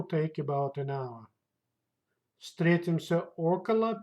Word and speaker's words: около: Около. Около. That's mean about or around. Pay attention. The stress goes to first vowel. Около. Около. Около. Это займет около часа. It will take about an hour. Встретимся около 5 часов вечера.